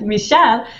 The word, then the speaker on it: Michal: I would spell it with ch. But since ch in France is sh Chal. Sound, right? Michal. She wrote it M-I-R-A-L. I told her my name is not with an R, but she said, yeah, this is how I pronounce your name, Michal.